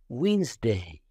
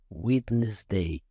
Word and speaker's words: Wednesday: yellow okay another word Wednesday Wednesday we do not pronounce it wtes day the D is not pronounced for example I play